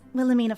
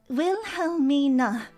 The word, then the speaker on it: Wilhelmina: Um, so, uh, my name is Willilamina. Will Helm mean? Remember it properly.